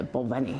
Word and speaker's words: Balvenie: If I was Scottish, I'd say Balvenie.